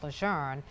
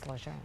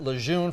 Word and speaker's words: Lejeune: corrected me at least, saying that it was Camp Learn as opposed to Camp Llejun. But I know many of you are still saying this is how I've pronounced it all these years. We did as well, but it is Ljun. We've already gotten an email from somebody who said, "I've pronounced it lune for 50 years and I'm going to keep doing it."